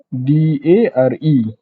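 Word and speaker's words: 誰: Bacaan dia re. Dia bukan dara. So dalam bahasa Jepun, R-E dia tak ada sebutan dara. Dia tak ada sebutan re. Dia hanya ada sebutan re. So cara baca adalah dare. Dare.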